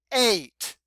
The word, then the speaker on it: eight: maybe you saw that there's an e IgH and it all those letters just make the sound a a long a yes these are ghost letters hmm interesting okay you